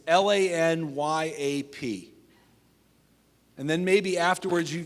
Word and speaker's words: lagniappe: By the way, if you want to phonetically write this, it's Lanyap.